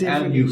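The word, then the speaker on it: Lugh: Now, spell Lu. L-U-G-H. Okay. Lu is how we pronounce them here, but I'm sure he would have been pronounced. I've seen it as L-U fada.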